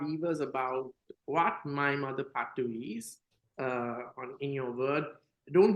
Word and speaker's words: Pattu: So with that, I'm going to talk to you about your book, the My Mother Pattu. Is that how you pronounce it? Yeah, My Mother Pattu, right.